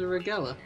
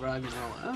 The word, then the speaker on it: Roggenrola: There's a Regella. Is that what it is? I don't know. Roggenrola. Oh, Roggenrola. Okay, well, listen to me mispronounce Pokemon names.